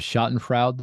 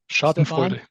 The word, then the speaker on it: Schadenfreude: Yeah, I guess in China, I don't know, maybe there's a bit of Schadenfreude there. I'm not sure. Oh, good German word, right? Schadenfreude.